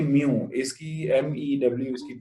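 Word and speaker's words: μ: और ये म्यू, इसकी MEW इसकी प्रोनाउंसिएशन है, तो ये याद सर रखिए।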